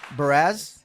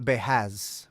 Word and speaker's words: Barz: cool y but yeah you did pronounce my name correctly gra so Barz Barz yeah okay Americanized Portuguese gotcha uh so it's not beaz beaz no okay definitely an R not an H right well in in